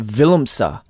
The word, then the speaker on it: Willemse: It's actually pronounced Willemsey. Willemsey. Willemsey. That's why. Silent V. It's a Dutch surname.